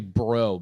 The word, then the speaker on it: Brault: I know this isn't how you pronounce his last name, but it's spelled Brault. Dan Bro. Oh yeah, Dan Bro. It's actually Bro. B-R-O is how you pronounce it.